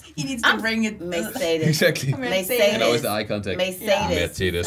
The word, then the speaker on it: Mercedes: good you're good yeah instead of saying like Mercedes I know say Mercedes Mercedes oh but how do you say it Mercedes Mercedes Merced mer Mercedes Mercedes we say Mercedes and y'all say Mercedes mer say it again